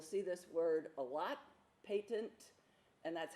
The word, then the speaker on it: patent: this word a lot patent and that's how you pronounce it it's not patent like you know you get a patent for an invention or something patent means